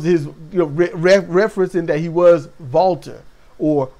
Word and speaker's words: Walter: referencing that he was Walter or Walter whichever you want to pronounce it uh over where he's from Volkswagen so Walter with the kind of a Vish W sound so and he says